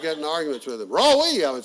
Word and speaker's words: Roy: I maintained that Roy was a 2-syllable word.